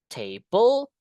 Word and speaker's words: table: So in this part you can say table. Ada dua sukata kan? Table penekanannya di table su kata yang pertama bukan table new table laptop itu yang noun.